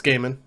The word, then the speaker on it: Gaiman: Gaiman stuff or Gaiman, however it's pronounced. It's Gaiman.